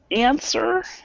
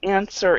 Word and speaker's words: answer: W sound so say answer even though that we spell it with a w we do not pronounce it with the W so answer so I